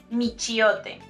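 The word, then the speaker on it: mixiote: sounds like a j sometimes it sounds like an S take these two words for example sochimilco and michiote in the first one it sounds like s in the second one it sounds like CH the reason for this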